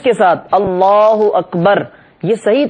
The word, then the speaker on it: اللہ اکبر: کی طرف ہوں، اور صحیح تلفظ کے ساتھ اللہ اکبر، یہ صحیح تلفظ ہے، ہم یہ تلفظ کے ساتھ اللہ اکبر کہتے ہوئے اپنے ہاتھوں کو نیچے لائیں.